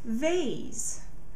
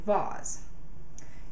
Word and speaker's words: vase: put flowers in a vase some people say vaz and that is spelled v-a-s-e vase begins with the